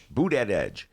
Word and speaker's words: Buttigieg: How do you pronounce Mayor Pete's last name, D? Buttigieg.